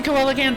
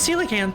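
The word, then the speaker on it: coelacanth: I used to pronounce the koala all the time and then I learned it was celacanth.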